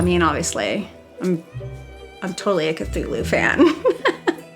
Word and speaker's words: Cthulhu: So, I mean, obviously, I'm totally a Cthulhu fan. I did hear that it's not pronounced Cthulhu, it's like Cthulhu. We're not supposed to be able to pronounce it with our human tongues anyway.